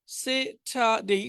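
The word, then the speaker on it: Saturday: ঠা দেই সেটা দেই এই র টা না উচ্চারণ করলে ভালো সেটাই সেটাই সেটাই সেটা ডেই সেটাই সানডে সেটারে অর্থাৎ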